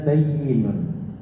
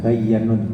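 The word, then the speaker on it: بَيِّنٌ: Tulisannya bayyin ya bacanya ya. Bukan bayyanun, bukan, tapi apa? Bayyinun. Bisa diperbaiki, disandami bayyinun. Bayyinun. Kalau kita kurang memahami bahasa Arabnya, nanti bacanya bayyanun. Yang betul bayyinun.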